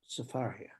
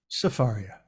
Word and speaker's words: Sefaria: And I'm talking, of course, about Safaria. Sefaria. Absolutely. So it's spelled here, you see up here, Sefaria.